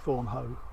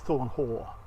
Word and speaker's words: Thornhaugh: Apart from trying to work out how to pronounce this place, I've always called it Thornhaugh, but it's Thornhaugh.